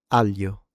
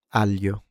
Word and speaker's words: aglio: famiglia famiglia family moglie moglie wife aglio aglio garlic How did you like that?